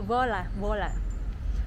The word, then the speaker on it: Voila: Ini tulisannya Voi La Hotel, tapi itu pronunciation itu kayak Vola.